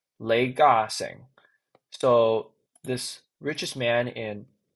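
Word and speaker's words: 李嘉誠: His name is uh oh, in Cantonese, his name is Lei Ga-seng.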